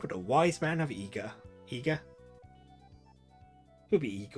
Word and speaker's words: Iga: I would have pronounced that as Iga years and years ago, but it would be Iga because the way I is read in Japanese is actually an E sound, but yeah.